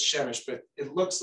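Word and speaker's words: Przemyśl: It says Chemish, but it looks like P-R-Z-E-M-Y-S with a little squiggle L. So believe it or not, it approximately is pronounced Chemish.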